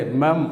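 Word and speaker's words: מ: இந்த எழுத்தை மெம் அப்படின்னு உச்சரிக்கிறோம்.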